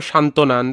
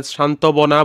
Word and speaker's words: সান্ত্বনা: যেমন এখানে দেখো সান্ত্বনা। আমরা সান্ত্বনার নিচে যে ত এর নিচে যে বটা আছে সেটা শান্তবনা বলি না। আমরা এখানে ব এর উচ্চারণটা করি না।